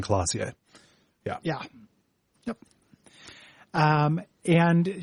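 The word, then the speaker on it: Klaasje: cl cl classier yeah claz yeah CL they very kindly give you a small pronunciation guide so it's Revel AR and classier yeah yeah yep um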